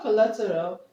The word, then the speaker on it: collateral: collateral okay coal okay the word collateral ends with a so we're going to Str the thir level from the end okay the thir from the end collateral it has it has four levels okay one two three okay so the stress is here um the word bilateral